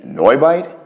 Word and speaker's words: NeuBite: shopping experience quick one why is it spelled with a u wouldn't that be noi bite spot on so i